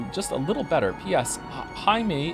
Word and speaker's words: Jaime: Jaime is pronounced in like the hide in Hideyoshi, but with an M.